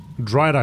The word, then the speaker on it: drider: Is that a drider? Here we go. Drider rhyming with strider.